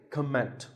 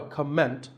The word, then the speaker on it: comment: heard many speakers say comment now whether you use this word as a noun or as a verb the first syllable is always calm so it's never a comment it's a comment word number 11 is